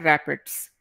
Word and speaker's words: RAPD: RAPD को pronounce करते हैं रैपिड्स।